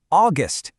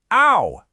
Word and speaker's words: August: Chintu is talking about a big holiday that happens in August. He starts the word with a sound kind of like you just stubbed your toe. Ow.